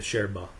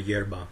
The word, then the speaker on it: yerba: is the herb itself the Sherba the Yerba depending on how you speak Spanish it is spelled y